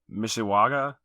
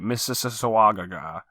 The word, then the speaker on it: Mississauga: then in March 13 to 15th we've got Misha Waga even missus uh-uh Ontario Canada I'm confident I said it right Mississauga Ontario Canada yes just Toronto it's just an